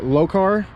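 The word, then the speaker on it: Lokar: uh throttle cable from low car might be how you pronounce it it's l-o-k-a-r all this stuff is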